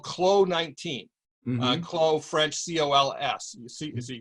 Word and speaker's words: Clos: Clos, French, C-O-L-S. You see, you don't pronounce the S, I'm told.